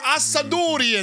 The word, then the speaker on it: Assadourian: Assadourian. Did I say it right? You said it like an Italian would say it. Yeah, that's all right. Assadourian.